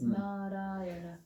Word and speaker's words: Narayana: It's an expression in 5 syllables of the call of the human heart. 4 syllables. Narayana.